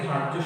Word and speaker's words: ধার্য: আমরা অনেকে ধার্য শব্দটি দেখি ধার জফলা দিয়ে না। যখন রেফ কোনো বর্ণের উপরে থাকবে সেই বর্ণটির দ্বিত্ব দুইবার উচ্চারণ হবে না।